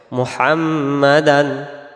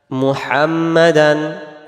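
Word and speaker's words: محمدا: আন্না আন্না গুনা হবে মুহাম্মাদান মুহাম্মাদান মোহাম্মাদান না মুমি পেশ মু আর যদি মোহাম্মাদান পড়ি তাহলে মিম পেশ ম হয় ম না মু হবে মকার মুহাম্মাদান আবদুহুস ওয়া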